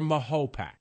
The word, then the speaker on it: Mahopac: is pronounced MAYO-PAC or MAHO-PAC? The proper pronunciation, and this has been debated over many, many years, is Mahopac. It's hyphenated. If you hyphenate it, Mahopac, that's the way it's pronounced, is Mahopac.